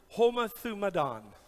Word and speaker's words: homothumadon: And the word is homothumadon. That's how you sound it out phonetically.